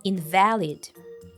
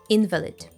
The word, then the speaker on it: invalid: The stress falls on the second syllable, invalid. Don't confuse this adjective with the noun, invalid, which has a different meaning and the stress falls on the first syllable, invalid. Check out the difference in these two examples.